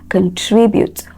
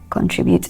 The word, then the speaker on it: contribute: So it is the second syllable. So we have contribute, not contribute.